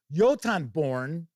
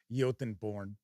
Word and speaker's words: Jotunborn: The new larger than life yotanborn ancestry. Hopefully that's how it's pronounced because that is how the word is pronounced. Yoton who knows maybe it's Jotunborn. I doubt it. I think it's yotenborn.